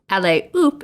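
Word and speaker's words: allez hop: phrase oop a-l-l-e-z h-o-p but the h in french is not pronounced uh so la is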